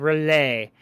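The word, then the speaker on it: R'lyeh: he is in his city of relay which i've took me forever to figure out that's how you freaking pronounce that yeah i heard it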